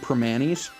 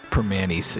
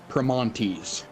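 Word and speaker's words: Primanti's: You still pronounce the T in Permanis. Oh yeah. Permanis.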